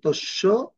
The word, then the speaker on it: তস্য: এবং জফলার ক্ষেত্রে উদাহরণ হচ্ছে তস্য, এটা কি হবে? তস্য, তস যোগ ইয়, তস্য।